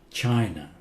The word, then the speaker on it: China: China, China, China. Last A is pronounced China.